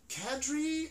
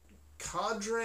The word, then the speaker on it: cadre: you say this word is it kadri is it cadre is it cater i think it's kadri i had to get